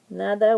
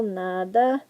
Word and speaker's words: nada: welcome so gracias Dada NADA once again second to last syllable NADA stress is on the first syllable NADA not Nada it's NADA got it makes sense